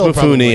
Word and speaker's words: Mifune: And I think it's Mifune. I think they like say the E. Yeah, I think you're right. I don't think that's yeah. Sig silent E would be. No, that's an English thing.